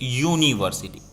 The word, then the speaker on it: university: It's university, not a sound, okay, or not a sound. That is why university is not u is given, vowel is given, but not we pronounce that a vowel sound.